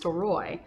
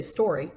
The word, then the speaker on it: Storoy: And so in terms of how Storybook Vacations came about, our last name is pronounced Storoy, but people say story all the time.